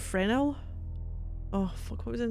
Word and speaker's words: Fresnel: Oh, the S is silent. What, Fresnel?